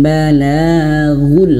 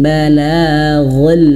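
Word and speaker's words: الْبَلَاغُ: illal balagul harus manyun ghul kalau kurang manyyun maka bacanya illal balagal mubin kalau dia tidak manyun maka kurang sempurna jadi perlu kita latih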